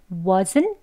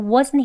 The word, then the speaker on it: wasn't: was 발음 배운 것처럼요 wasn't 그죠 wasn't here이라고 하면 되겠습니다 he wasn't here he wasn't wasn't was 하고 살짝 숨이 참아지는 거예요 wasn't 만 해 볼까요